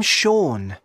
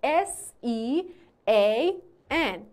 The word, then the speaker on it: Sean: I'm Sean. Can you spell that?